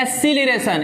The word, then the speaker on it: acceleration: इसको इंग्लिश में बोलते हैं एक्सीलरेशन, ACCELERATION। इसको एक्सी भी बोल सकते हैं, एक्सीलरेशन। बोलिए एक्सीलरेशन। AC बोल सी ली रेशन। स्पेलिंग देखिए, CEC LE रेशन। RATION को शन पढ़ा जाता है, ठीक ना?